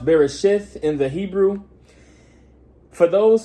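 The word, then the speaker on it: בראשית: Today we're going to be reading Genesis chapter 10, or it will be pronounced Bereshith in the Hebrew.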